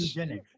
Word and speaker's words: eugenics: Eugenics. Eugenics. but I'm watching the show. Eugenics is the word. Eugenics. Don't Eugenics.